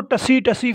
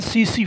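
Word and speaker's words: tsetse: उस मक्खी का नाम है, ये बच्चों TSE, इसको टसी फ्लाई नहीं पढ़ना कभी भी, टी साइलेंट है, इसको पढ़ना है CC फ्लाई।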